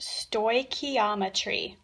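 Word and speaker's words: stoichiometry: top it's kind of a big word it's pronounced sto ometry and what that word actually means is it's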